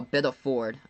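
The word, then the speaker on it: Biddeford: family that's so sad Oh Biddle Ford okay interesting I've been pronouncing a bit of Middleford for my entire life all right I'm gonna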